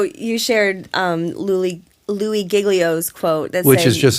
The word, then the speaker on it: Giglio: so good so you shared um Lou Lou giglio's quote that which is just such a great